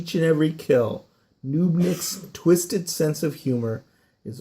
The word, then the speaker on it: Knubnik: every kill, Knubnik's twisted sense of humor is overshadowed only by his lethal effectiveness.